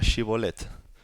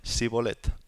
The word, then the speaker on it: Shibolet: Si él respondía: no, entonces le decían: di pues la palabra Shibolet. Pero él decía Sibolet, porque no podía pronunciar correctamente.